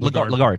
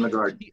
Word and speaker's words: Lagarde: How do you pronounce her last name? Lagarde. Christine Lagarde.